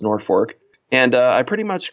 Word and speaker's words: Norfolk: to a town called Norfork Nebraska it's spelled like Norfolk Virginia but it's pronounced Norfork and uh I pretty